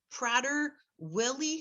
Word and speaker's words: Prader-Willi: And I don't know how to pronounce the syndrome that he has, but I'm thinking, let's see, Prader-Willi Syndrome. Is that how it's pronounced?